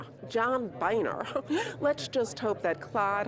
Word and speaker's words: Boehner: replacing speaker john boehner no it's boehner not boner but that's not the way it's spelled john boehner let's just hope that